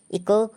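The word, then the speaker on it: echo: हमेशा साइलेंट होता है इको ई सी एच ओ इसको हम इको पढ़ेंगे क्योंकि रूल के अनुसार अगर एओ से पहले आता है तो एच साइलेंट होता है तो इस वीडियो को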